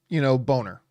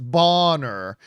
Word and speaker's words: Bonner: So I don't think they're going to do, Boner or Bonner, as it should be pronounced, Bonner.